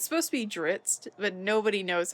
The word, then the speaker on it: Drizzt: it's supposed to be dritz but nobody knows how to pronounce his name because it's supposed to be dritz which rhymes with grits but some some things